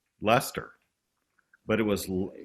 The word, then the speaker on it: Leicester: said Leicester, but it was like, as many interviewers have said, what gave you the idea for the Earls of Leicester?